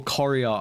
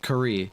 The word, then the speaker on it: Courier: first started playing Dota, I would, I'd call Courier, I'd say Curry instead of Courier.